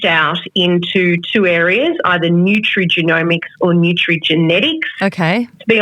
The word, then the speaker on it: nutrigenomics: Nutrigenomics, have I pronounced it right? Nutritional genomics, is that right? Yes, yes. So nutrigenomics, or when I started, back nearly 20 years ago, everyone just called it nutritional genomics.